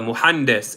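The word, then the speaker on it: مهندس: say um so sugar lack oh I didn't spell it muhandis m-u-h-a-n-d-i-s andas and then you're gonna put m-u-h-a-n-d-i-s-e-h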